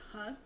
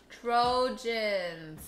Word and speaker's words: Trojans: You don't pronounce it as Tron? No, Mom. How you say it again? Trojans.